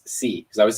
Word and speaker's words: Xi: me she said she said uh see it's c because i was saying g because it's like